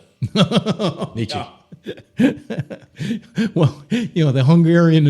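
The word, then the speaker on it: Nietzsche: more welders that can, you know, talk about Nishi." And um, you know, uh, by the way, thank you for saying it properly. Oh, not Nichze. Nicha.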